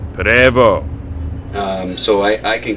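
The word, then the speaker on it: Prevost: And what they build are buses called Prevo. Looks like Pvost, but it's pronounced Prevo.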